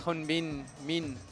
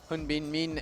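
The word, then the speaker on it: Min Hyun-bin: Yeah, from Korea we have Hyun-Bin Min, and my Korean pronunciation is actually quite bad, obviously, but I believe it's Hyun-Bin Min, and he climbed so well last week.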